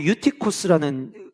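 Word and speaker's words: Εὔτυχος: 제가 인상 깊게 봤는데, 유두고라는 이름이 헬라어로 유티코스라는 발음을 갖고 있는데, 이 유티코스라는 이름은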